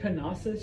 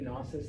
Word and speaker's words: Knossos: The capital city of Crete is the city of, I say Knossos just to be a weirdo, but it's actually Knossos. The K is silent, as in most Greek words.